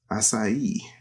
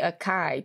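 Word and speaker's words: açaí: parenthetical as acai berries okay that's how you say that kels acai allison that was some people say akai don't they is it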